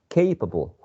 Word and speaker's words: capable: And also this one is very difficult for us because of the two letters A, and the first one is A, and the second one is a schwa. So capable.